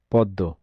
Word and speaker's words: পদ্ম: পদ্ম। ম ফলার উচ্চারণ নেই কোন শব্দে?